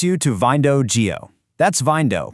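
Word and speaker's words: Vyndow: That's Vindo, pronounced just like Window, but spelled V Y N D O W.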